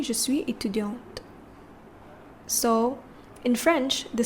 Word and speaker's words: étudiante: Je suis étudiant and je suis étudiante. Can you hear the difference? Je suis étudiant, je suis étudiante. So the second pronunciation has a t at the end, right?